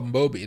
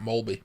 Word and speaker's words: Moby: just had him here oh Moby not mby mby did they just